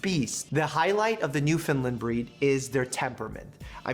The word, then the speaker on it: Newfoundland: is a Newfoundland and I know it sounds like I'm saying New Finland but I'm saying Newfoundland in a way that